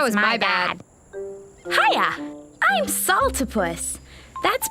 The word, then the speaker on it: Saltopus: Hiya, I'm Saltopus. That's pronounced Saltopus.